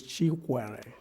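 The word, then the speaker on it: Chikwere: as in unity, and my last name is Chuare.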